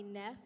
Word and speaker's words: Neff: my name is nefatara best friends call me neff it rhymes with jeff i am the co-founder